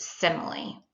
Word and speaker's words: simile: It looks like smile, but it's actually pronounced simile.